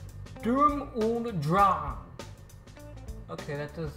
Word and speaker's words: Sturm und Drang: I don't know German, so I've mispronounced this phrase, which is actually pronounced Sturm und Drang. Okay, that does sound more German. Sturm und Drang.